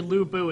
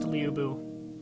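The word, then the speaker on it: Lü Bu: Quite lu, which actually lubu is a common uh is actually kind of a common uh North American misprononunciation that even a lot of the games make. Uh it should actually be pronounced Liubu. Liubu.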